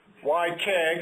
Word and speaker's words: WyCEHG: And when you see a name like YKG, you always have to wonder how it's going to be pronounced and so on. This is why Keg and I guess the answer is why not?